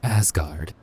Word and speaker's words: 4564RD: Yes, those are a bunch of numbers, but believe it or not, 4564RD is pronounced Asgard.